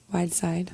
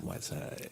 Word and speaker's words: Wydesyde: Spell it so people say it right. I know, right? Everybody does it wrong. It's WYDESYDE. Whiteside. Whiteside.